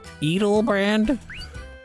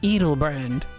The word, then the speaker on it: Edelbrand: edel eat eat brand eatle brand the lady it's no fair cutting in when i'm in the middle of my speech and you got the name wrong it's edelbrand oh okay how did